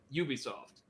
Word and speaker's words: Ubisoft: I know there was, like, this major confusion, even within the company, as to whether it's Ubisoft, Ubisoft. It is apparently Ubisoft.